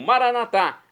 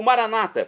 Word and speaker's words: Maranatá: E agora eu clamo, Maranatá, como dizemos nós católicos. Ou Maranata, como dizem nossos irmãos separados, os evangélicos ou protestantes. Não importa a pronúncia, o significado é o mesmo.